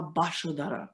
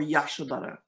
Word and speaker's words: Yashodhara: Is the temple of Ma Bashodara or Yashodhara, depending on your pronunciation. But in Bengali style is Ya is Ba, right?